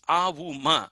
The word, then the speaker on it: Om: We all know that Om is avuma, but Om is one syllable. It cannot be split, and that is Brahma.